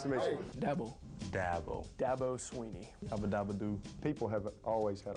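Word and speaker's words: Dabo Swinney: Dabo Sweeney is how you pronounce my name, and I've had that my whole life.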